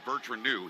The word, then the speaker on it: Bertranou: I said there's about five versions of people saying your names your name. What is it? He said, "Well, how do you say it?" I said, "Bertranou."